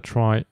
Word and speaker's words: trie: a try is a Tre data structure used for storing and efficiently searching for Strings it comes from the word retrieval but is pronounced like try to differentiate it from tree they are also called